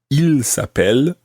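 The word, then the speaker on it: ils s'appellent: Well, it actually sounds exactly the same as he is called. Il s'appelle, he is called. Il s'appelle, they are called. But it's spelt differently, and it's got a silent part at the end of il s'appelle. It actually ends in ENT, and if you're using the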